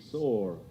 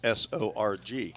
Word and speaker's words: Sorg: I mean, how else can you pronounce S-O-R-G? Sorg?